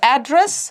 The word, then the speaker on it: address: For address, stress on first syllable.